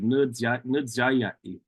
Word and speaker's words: Nudzayai: And that's how he said it, with that more like a DZ sound. He said, Nudzayai, Nudzayai, I'm hungry.